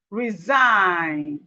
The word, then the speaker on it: resign: When we have G and N, the G is silent. Whenever we have G beside N, G and N together, the G is silent. So we have none, resign, resign, champagne, champagne, sorry,